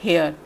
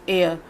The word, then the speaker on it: heir: Students, इसका pronunciation होगा एयर, नॉट हेयर. इट्स एयर.